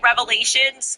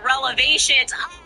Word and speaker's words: revelations: And look, she meant to say revelations, but she said relevations.